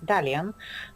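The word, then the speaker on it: Dalian: name of the city which uh Chinese people pronounce as dalan uh it comes uh to the root of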